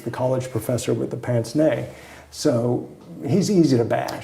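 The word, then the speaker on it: pince-nez: turned president with the pants nay for glasses and yes that's how it's pronounced he was the college professor with the pants nay so he's easy to bash and that's a french word and that's a french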